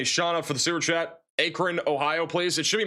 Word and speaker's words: Akron: Akron, Ohio, please.